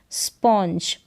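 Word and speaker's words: sponge: Spill, स्प इन स्पिन, स्पॉन्ज, स्पॉन्ज। GE है, इसको जो प्रोनाउंस करेंगे और N जो है इसको आधे न के रूप में प्रोनाउंस किया जा रहा है और O को ओ करके।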